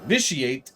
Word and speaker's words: Vitiate: this officiate excuse me we're supposed to pronounce the T vitiate has so far gotten